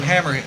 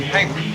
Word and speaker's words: Hamer: I called J.J. Hammer last week. I called him Hammer. They say it's actually pronounced his name Hamer.